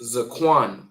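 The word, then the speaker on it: זקן: Our next word means ancient or ancestrial and that is pronounced zcoan. Zcoin, right?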